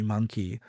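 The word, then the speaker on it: Munki: I want to be monkey. And I was like, monkey? How can I? And then I was like, let me spell it differently. So I spelled it MUN-KI. So it's Monkey von Munchkin.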